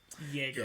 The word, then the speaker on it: Jaeger: actually see a real jager jaeger or jaeger sorry it has a j in front of it but it's pronounced jaeger with a y and that is like